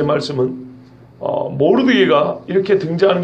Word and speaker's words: 모르드개: 모르드게. 여러분 바벨론 역사 혹은 페르시아 역사에 모르드게라는 사람이 상당히 많이 나옵니다. 모르드게라는 이름은 흔한 이름 중에 하나입니다. 마르두카 뭐 이렇게도 발음이 됩니다.